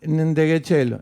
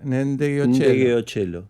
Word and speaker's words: Ndegeocello: Así Es se Reggie pronuncia Zapping. como dijo él. Ndegeocello. Ndegeocello. Ndegeocello.